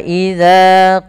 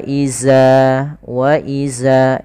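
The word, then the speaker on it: إذا: Lafal dzal, ini harus hati-hati teman-teman ya. Jangan sampai membacanya dengan wa iza. Ini sering terjadi kesalahan yang terjadi, yaitu mengganti huruf dzal diganti dengan huruf zai.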